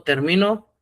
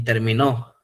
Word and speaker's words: terminó: Venían también algunas palabritas ahí, por ejemplo, no es lo mismo termino y terminó. Cuando lleva acento en oo es en pasado la palabra terminó. Termino, camino, caminó, platico, platicó. Cuando lleva acento en la o es en forma pasada y hay que darle el énfasis.